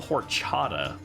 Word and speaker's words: horchata: They have it's called horchata, right? That's how you pronounce it.